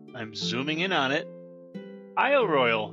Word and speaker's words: Isle Royale: zooming in on it Isle Royal National Park or is it Royale potato potato according to the park rangers but I'll pronounce it how they pronounce it welcome to Isle Royale foreign most